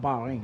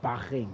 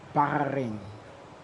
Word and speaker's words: Bahrain: It's not Bing, it's Bahing, apparently. Looks like your boys been Say it wrong. It's Barin.